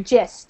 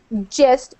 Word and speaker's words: gist: me to say gist so gist in English the G sound sometimes has that soft we call it a soft G not a hard G so it's gist uh kind of like if we if it was spelled with a J but it's not it's spelled with a G so uh gist yeah not gist gist it would be with a hard G so that's how we say it gist all right so